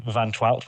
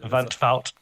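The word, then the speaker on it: van 't Wout: obviously Xen Van I'm I keep calling him Vanout. I think it's Vanut or however you pronounce it. Vanvout, I think you Van Fout.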